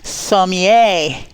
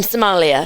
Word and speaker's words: sommelier: Sommelier. Yes, How'd she do? Good job. Very good. Practicing. Good job. Yes. Sommelier. Sommelier. Which is spelled sommelier. Sommelier. From Somalia.